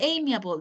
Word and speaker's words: amiable: amiable. The pronunciation is amiable and is Amiable, somebody okay.